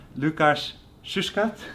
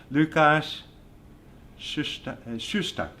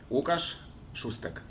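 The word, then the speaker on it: Łukasz Szóstek: Today we are so lucky to have Łukasz Szuszkat. No, I didn't say it right now. Łukasz Szusztak. Right. You say it. Łukasz Szusztak.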